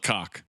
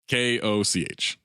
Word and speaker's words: Koch: It's spelled cock. Oh. K-O-C-H. But I think it's Koch.